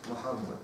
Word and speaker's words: Мухаммад: Вот они пишут магометианство, такого нет, есть Мухаммад, есть, это нужно имя правильно произносить.